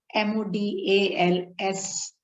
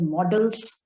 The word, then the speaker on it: modals: Some people pronounce it as models. Some people pronounce it as modals, right? It is pronounced as modals, right? Models also you can say, but not model. Model is M-O-D-E-L, fine?